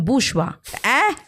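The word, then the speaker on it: bourgeois: बोरगॉइस हुआ तो मैं कहती हूं इसका प्रोनंसिएशन बुषवा क्योंकि वो फ्रेंच ओरिजिन है उस वर्ड का तो उसका प्रोनंसिएशन उसका स्पेलिंग बिल्कुल अलग है अब जैसे देखिए ना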